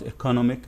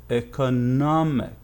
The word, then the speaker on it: economic: syllable a car economy but in the adjective form it's not economic no this is wrong it's economic nomic yeah the stress before the final is the one that receives the highest pitch or